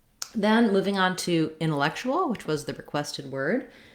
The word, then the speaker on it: intellectual: The stress in intellectual is on the third syllable, lek. Again, we have an vowel, red tent vowel, intellectual. And the C says the K sound here, and then this TU says a CH sound.